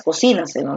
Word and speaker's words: cocínaselo: La forma correcta de decir esta palabra es cocínaselo, ¿no? Cocínaselo. Oye, cocínaselo. Cocínaselo rápido. ¿Sabes? Es en acá, recae la fuerza de voz aquí, en sí.